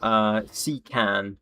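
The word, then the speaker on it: CKAN: I download the RP1 mod via 𝐒𝐞𝐫𝐶an. It's spelled like C as in the letter C, and then 𝐾AN.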